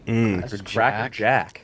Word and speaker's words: Cracker Jack: I think it's just Cracker Jack singular, which uh I don't love. Double mispronunciation to start. No S. There's no S. Cracker Jack.